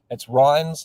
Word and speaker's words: REINZ: It's Rhines like Heinz. So, Real Estate Institute in New Zealand, and you pronounce the acronym Correct. Rhines like Heinz because you probably got a can of Heinz in the cupboard.